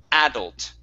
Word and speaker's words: adult: Okay, you can say adult or adult. You cannot say adult. Okay, so if you stress the beginning of that word, you have to pronounce the short a saying ah. Okay.